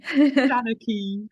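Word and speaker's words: seanchaí: And so, Eimear, your Senekai, I may pronounce this wrong. Please say the word again for me. Shanaki.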